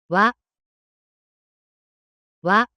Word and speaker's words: わ: わ、わ、 The pronunciation of character wah in Japanese is something like the combination of WH in English.